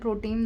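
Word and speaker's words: pro tem: इसको हम लोग प्रोनाउंस ऐसे ही करते हैं, प्रोटेम, दैट मीन्स टेम्परेरीली जो अपॉइंट होता है।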